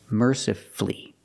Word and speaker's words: mercifully: We also practice with these words, powerfully and mercifully. Again, you have two syllables before F-U-L-L-Y, and the stress is on the first syllable, so the U is silent.